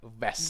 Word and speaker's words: vest: A v, you have to bite the lip, vest.